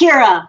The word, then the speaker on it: Kyra: It's Kyra. It's like Kyra.